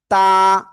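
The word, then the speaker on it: ت: তা, তা, তা। তা অক্ষরে আমাদের ভিতরে একজন বলতেছেন দুই আলিফ, না এটাই এক আলিফ টেনে পড়তে হবে।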